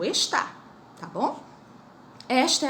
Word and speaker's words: está: tem acento, e o está, que tem acento. Olha a diferença da pronúncia. Esta e está. Quando não tem acento é esta, quando tem acento é está.